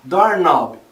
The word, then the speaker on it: doorknob: Por exemplo, a gente tem palavras terminadas em K e N no inglês, onde a gente não pronuncia o som do K. Know, saber, knife, faca, knee, joelho, doorknob, maçaneta.